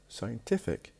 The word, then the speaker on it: scientific: So we have scientist, the stress on the beginning. When we add IC to it, scientific, the stress will be moved to the one before the last.